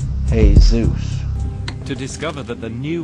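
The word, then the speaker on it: Jesús: aryan sanskrit and it the spelling of jesus is pronounced hey zeus to discover that the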